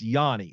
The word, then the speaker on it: Yanni: talk to him and he told me it's Yanni so that's what I'm saying so Matthew Johnny uh but uh I